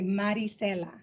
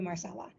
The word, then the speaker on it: Maricella: interact with you again I say Maricella and I give explanations for it and if that if after a while you just call me Marcella because if I spent